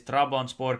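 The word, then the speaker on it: Trabzonspor: you very much uh it is trabon Sport correct pronunciation Mike has good pronunciation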